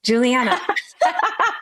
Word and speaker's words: Juliana: Juliana.